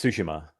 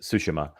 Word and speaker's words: Tsushima: It's Tsushima. Tsushima. Yeah, the T is silent, so it's just Tsushima.